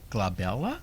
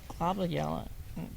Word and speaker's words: glabella: the space between your eyebrows is called the glabella is that is that how you pronounce it yep I think or globella glabella no it's g l a b e l